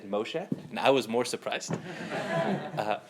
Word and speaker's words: Moshe: name, and she said, tell them your name is Moshe without the N, and then they get it.